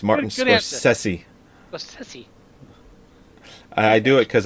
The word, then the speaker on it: Scorsese: I thought it was thought it was scors sessi it is scors sessi but I'm not GNA say it I just like correcting you it's Martin sessi sessi I do it because I know it